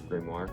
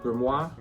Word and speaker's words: grimoire: It looks like a grimoire. Grimoire. We say it right now. We used to say it wrong.